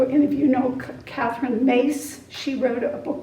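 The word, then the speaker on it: Myss: So Catherine, I don't know, any of you know Catherine Mace. She wrote a book called Intimate Conversations with the Divine. It's spelled M-Y-S-S, but I think it's pronounced Mace.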